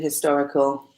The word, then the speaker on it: historical: No, the H is not silent in historical. In most English words, the H is always pronounced.